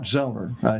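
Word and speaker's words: Sellner: You know, that Zellner, his name's pronounced Zellner, Martin Zellner, that is one smart guy.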